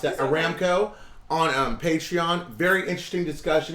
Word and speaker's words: Aramco: no and miss April did a video on Armco Aramco sorry I mispronounced that Aramco on patreon very interesting discussion about the IPO